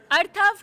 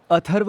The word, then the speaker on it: अथर्व: अर्थव किसका नाम है? अर्थव किसका नाम है यहाँ पर? अर्थव? अर्थव नहीं, अथर्व हूँ मैं। मेरा नाम अथर्व है।